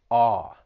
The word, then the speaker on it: awe: just that vowel sound ah like you would have in the word saw and when talking about the